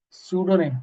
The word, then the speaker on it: pseudonym: a a a yes the answer is pseudonym p is silent And it's not name it's name.